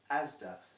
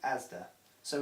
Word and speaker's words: Asda: mr sainsbury's store correct asda there is no man called asda so it is not i'm going down asdas because mr asda doesn't exist that's owned by walmart